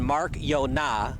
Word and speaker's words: Marchiona: There comes in Mark Yona. And it's a really cool name, partner, because it's spelled Marciana, but he pronounces it Mark Yona.